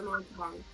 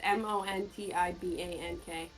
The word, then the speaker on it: Montebank: It's Montibank. T-E. Te.